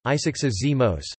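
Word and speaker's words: ἡσυχασμός: Hesychasm, Greek, hesychasmos, contemporary Byzantine Greek pronunciation, isixazimos, derives from the Greek hesychia, hesychia, Greek pronunciation, isychia, stillness, rest, quiet, silence, and hesychazo, Greek pronunciation, isizazo, to keep stillness.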